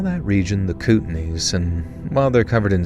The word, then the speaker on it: Kootenays: Kootenays?